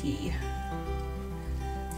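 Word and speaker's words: Caye: pronounce it key it's spelled k but it's pronounced key kind of like florida keys it's our guide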